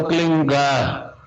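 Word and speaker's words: क्लीं: की मात्रा और बिंदी, उसका उच्चारण होगा क्लीन गा। गा की ध्वनि निकलेगी पीछे। आप अंग बोलो, यहां स्ट्रोक लगता है, अंग बोलो।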